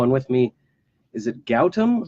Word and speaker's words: Gautam: with me, is it Gautam? Gotham, yeah, Gotham. Gotham, Gotham, like the Batman movie. Gotham, Gotham. but there's no TH. Yep. So it's just G-A-U-T-A-M, but the T is pronounced th.